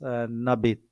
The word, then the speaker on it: n'habite: Now pronunciation becomes n'habite.